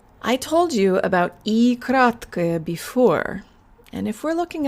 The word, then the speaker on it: краткое: We use schwa, schwa at the ends of adjectives like this.